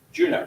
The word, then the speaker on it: Juno: Juno, thank you, yes.